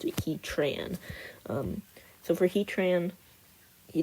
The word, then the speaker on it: Heatran: he Tran he Tran and yes I do pronounce it Heatran um so for Heatran he doesn't want to